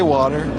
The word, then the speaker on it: water: You're supposed to pronounce the Wa. Water. Water. Not Water.